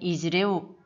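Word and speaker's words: izy reo: 다음 마지막으로 그들은 이지이레우이지만 발음하던 이즈레우 붙여서 발음하게 됩니다.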